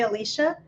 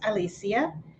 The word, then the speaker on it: Alicia: is the Spanish pronunciation most most people would say Alicia uh but it's it's actually pronounced Alicia and is my